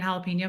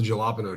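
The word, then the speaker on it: jalapeño: and they called it the galapo tree but I mean they knew they were saying it wrong but not was what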